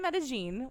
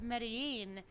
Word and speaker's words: Medellín: here for eight days yes we've been in meta-gene which it turns out but a gene that's how you pronounce it if you say med mein no no meta meta gene and if it's Medellin you're pronouncing it like a filthy Argentinean yes